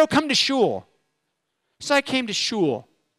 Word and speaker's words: shul: what sure what's that shul it rhymes with cool but it's not she